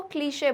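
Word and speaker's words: cliché: कैसे बोलते हैं इसको, क्लीशे बोलते हैं। क्या बोलते हैं इस वर्ड को, क्लीशे।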